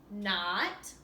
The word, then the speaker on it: knot: The set of words here has a silent K at the beginning. Knot, knee, and knob.